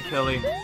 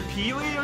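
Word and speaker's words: Pily: You are a good Pilly. Apparently a lot of people pronounce her Peely or something. I'm sorry. I'm aware that P-I-L-Y would probably be actually pronounced that way.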